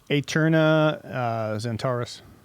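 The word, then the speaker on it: Aeterna Zentaris: How do you pronounce it? Aterna Zentaris.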